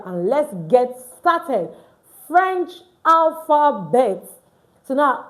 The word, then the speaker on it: alphabet: So now you want to say alphabet in French, you don't say alphabet. You say alphabet. Alphabet. You can see it now. The T is not pronounced at the end.